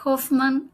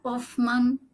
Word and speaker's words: Hofman: La presentación, mi nombre es Hoffman. Hoffman, depende de quién sí, depende de quién lo pronuncie, porque en mi familia se pronuncia sin la H aspirada, pero bueno, nunca me